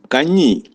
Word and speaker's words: കഞ്ഞി: It is kanji. I will pronounce it 3 times.